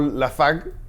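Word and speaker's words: Lafargue: ocurre y según Paul lafarge que se pronuncia por la faq y su libro el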